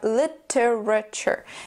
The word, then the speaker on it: literature: the schwas sound and the T and U don't make a two sound or t sound they make a CH sound just like in temperature so we have literature say it after me